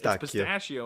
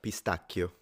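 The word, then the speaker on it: pistacchio: I mean, it's pistachio in American, but I think it's pistakio or something. And he said it right. Pistakio.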